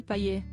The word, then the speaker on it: Payet: Ancien journaliste sportif, le chroniqueur Mohamed Bouafsi n'a pas hésité à faire un petit clin d'œil à Dimitri Payet, buteur avec l'homme lors du match du dimanche soir face à Angers.